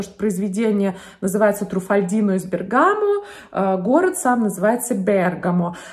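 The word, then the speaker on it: Bergamo: пункта в этом списке это слово бергамо который на самом деле звучит как бергамо название города который в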